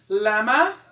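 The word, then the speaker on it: llama: The first, lama, como se fosse lama mesmo.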